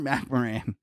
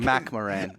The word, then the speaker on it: McMoRan: It's Freeport McMoran. Like McMoran.